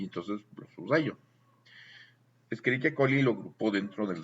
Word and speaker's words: Escherichia: A veces lees en español Cheochi, Escherichia, pero vas a pronunciar Keoki. Escherichia.